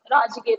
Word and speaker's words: राजगीर: राजगृहा या राजगीर दोनों नाम से बोला जाता था, प्रोनाउंसिएशन का अलग अलग होता था।